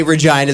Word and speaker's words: Regina: We can definitely say Regina, the city that rhymes with fun.